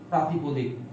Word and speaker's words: প্রাতিপদিক: এটা উচ্চারণটা হচ্ছে প্রাতিপদিক, বানানটা লক্ষ্য রাখবেন। আমরা অনেক সময় বলি প্রতিপাদিক, প্রতিপদিক, প্রাতিপাদিক, অনেক সময় বলি না, ভুল বলি।